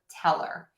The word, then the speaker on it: tell her: As an example, for tell her, I would say teller, just like the word teller. So I would say teller and tell her the same way. I would actually pronounce these the same way.